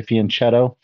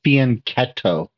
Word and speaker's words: fianchetto: so most people say fianchetto uh but the Italians don't pronounce it that way they pronounce it with a C Sound a k sound right so it's actually faneto but the idea is